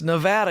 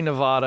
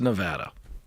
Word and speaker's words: Nevada: I gotta tell you I've said it wrong enough to finally get it right it's Nevada even though I want to say Nevada it's Nevada awesome so the reason